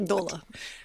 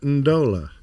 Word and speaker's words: Ndola: Performing a flight from Goma, DR Congo to, there's no vowel in there between the N and the D. I'm not sure how to pronounce that. Ndola. Ndola. Zambia. No, Steph got it right. Ndola.